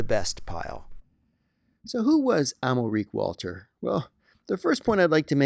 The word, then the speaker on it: Amalric: So who was Amalric Walter? Well, the first point I'd like to make is the man's name is Amalric, not Almeric.